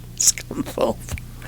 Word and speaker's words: Scunthorpe: Scunthorpe. Yeah, and it's spelt the way you think it is. It sounds like it would.